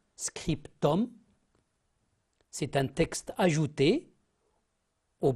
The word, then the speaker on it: scriptum: signature postscriptum j'ai dit attention à la prononciation scriptum c'est un texte ajouté